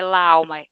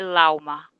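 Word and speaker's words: el alma: Alma também, não é lá alma, é lauma.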